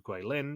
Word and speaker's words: Guilin: during the rest period teams were flown to guilin or goulim if you are Michelle yeah she took over Grace's role for mispronouncing names of cities that's what I have